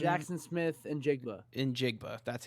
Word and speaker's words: Njigba: Njigba, that's how you say it.